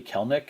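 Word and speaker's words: Kelenic: myself i actually drafted kelnick and i i know it looks like kalanick i believe it's actually kelnick even even though it looks like it should be three syllables i actually drafted him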